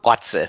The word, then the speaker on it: Batse: I know it's actually pronounced Batse Bulgarian, and that's like Batse is like the Bulgarian version of like bro, like bro.